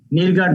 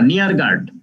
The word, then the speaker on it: Neergaard: নিরগার্ড না, নিয়ারগার্ড। পোল নিয়ারগার্ড। এর উচ্চারণগুলি শুনবা, পোল নিয়ারগার্ড।